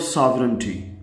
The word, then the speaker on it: sovereignty: Students please focus on the spellings of सॉवरेंटी। आपको इस तरह से बोलना है, सॉवरेंटी, सॉवरेंटी, SOVEREIGNTY।